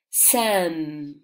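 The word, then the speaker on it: same: Sam, ¿vale? Van juntas, se pronuncian parecido. Can, Sam, la E es muda, ¿ok?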